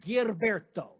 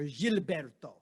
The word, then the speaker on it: Gilberto: and the chief vocalist zhao girberto or gilberto the proper pronunciation and they record a